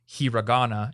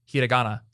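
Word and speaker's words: hiragana: learn to pronounce is the Japanese R because it's not hirana it's hiana and I'm bad at it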